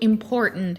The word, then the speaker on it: important: Mountain and certain would also include important into this category. These two words are pronounced without the actual T sound, like as if you were trying to say no.